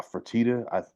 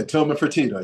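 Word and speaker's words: Fertitta: owner in Tillman uh fatita please don't hold it to me if I'm not pronouncing his uh last name correctly yeah tman fatita yeah you got right right listen tman don't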